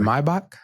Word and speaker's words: Maybach: Let me say this correctly, Maybach. Okay, a Maybach. I wasn't in a Maybach. I wasn't in one of those. Okay, that's how you say it, Maybach.